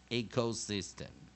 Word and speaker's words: ecosystem: jeaneen turn chin turn also in his system ecosystem okay one more time how at ec syllable Oh syllable sy as citable geem men